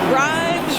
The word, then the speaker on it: Grimes: Grimes rhymes with dimes on time.